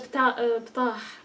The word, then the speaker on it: Ptah: It's a shame, but this is, well, I call him Ptah. What do you pronounce it as? Bitah. Sorry, bitah. So you have in Arabic this long H sound, don't you?